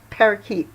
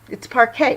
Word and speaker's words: parquet: That's somebody who read that, because that's not how you pronounce it. It's not parakeet. It's parquet, right?